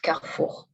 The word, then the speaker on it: Carrefour: You pronounce it a Carrefour, right? Or Carrefour. It's a French. Is there still in France? Yes, there are a lot. It's pronounced Carrefour. Carrefour, okay. Not Carrefour.